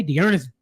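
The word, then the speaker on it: D'Ernest: I'm going to pop us off, get us started with Dearness Johnson. Okay, Dearness Johnson. You got to say it like that.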